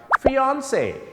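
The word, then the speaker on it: fiancé: คือ คู่ มั่น หญิง คำ นี้ มา จาก ภาษา ฝรั่งเศส เนี่ย นะ ครับ ออก เสียง ฟอน คล้าย ๆ กับ นัก ร้อง ออนซ รู้ จัก ม ครับ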